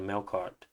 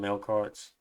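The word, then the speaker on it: Melqart: That Q kind of turns into a K, but maybe Google's lying to me. I'm not entirely sure. So I'm going to call them Melkarts.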